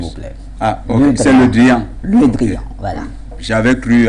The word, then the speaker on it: Le Drian: Le Truand. Le Truand, oh, ok. Jean-Yves Le Drian, s'il vous plaît. Ah, ok, c'est Le Drian.